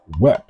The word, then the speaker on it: Wep: So the cow's horn is pronounced Wep. So it's the whole of the word of the day, which is Wep.